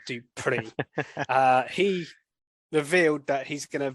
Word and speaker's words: Dupree: Sorry, yes, that's how you say it, Dupree.